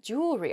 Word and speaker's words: jewelry: that word mispronunciation where the word kind of gets a little bit smushed together and we say jewelry instead we miss that that second e sound in there it should